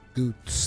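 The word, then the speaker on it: Goetz: favor to gos mind goots that's how you pronounce his name goots a yeah dude I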